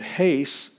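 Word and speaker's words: εἷς: a preposition meaning into but haste notice that it's rough breathing it's over the second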